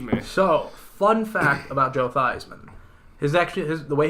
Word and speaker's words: Theismann: running for the Heisman he changed the pronunciation of his name to make his name more synonymous with the word Heisman that's